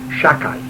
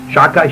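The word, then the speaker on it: שדי: We don't pronounce the Dalet not to take the name in vain, so we say Shakai. Shakai, Shin is 300, Dalet is 4, Yud is 10.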